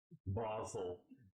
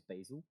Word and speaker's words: basil: you got from Afghanistan there are actually two pronunciations in the UK for that one is basil which is more American sounding the other uh is